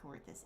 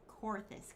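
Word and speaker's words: Coerthas: the observatory in coercus no it's not coertous it's korthus because i heard someone pronounce it in a cutscene and now i know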